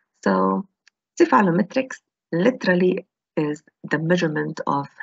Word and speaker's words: cephalometrics: When we want to pronounce the whole word, cephalometrics, cephalogram, cephalometric analysis, cephalostat, we usually use the C sound. But when we use the abbreviation, we say CEF.